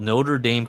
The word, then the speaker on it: Notre Dame: We were wrestling in a place called Notre Dame College. Only in America they pronounce the dame as in same.